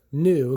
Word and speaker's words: Nu: uc 93 gear and that's the symbol for new comes like a v or a uh u u little u but that's just how it's pronounced and here you see